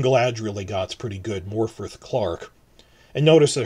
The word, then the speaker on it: Morfydd: they got's pretty good, Morfydd Clark. And notice that her first name is spelled with two D's, but it's pronounced as in TH, Morfydd Clark.